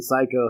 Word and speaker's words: psycho: missing I like how the P in psycho has like no connotation that doesn't sound similar at all no no it has more of an S sound the silent P yeah yeah that's what